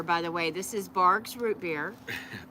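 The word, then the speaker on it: Barq's: This is Barg's root beer. Barb's. Barb's? Is it Barb's? You said Barb's earlier. No, it's Barg's.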